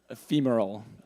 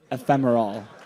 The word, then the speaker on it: ephemeral: Ephemeral. Ephemeral.